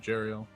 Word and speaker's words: Jariel: look over at you jariel and I'm sorry am I pronouncing that wrong uh no jariel okay um as he